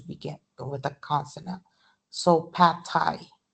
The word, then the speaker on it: pad thai: So pad thai, pad thai. Okay, so pad thai, it's unreleased.